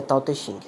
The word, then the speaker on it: Tao Te Ching: audiovisual o tao-te-king inscreve-se dodge din-din mas a pronúncia é um eu gosto mais antigo é Tao te Ching o livro do tal e aí eu frutos